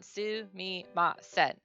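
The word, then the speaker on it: すみません: it it's literally if you break it down su me ma sen it's pronounced just like that is the only letter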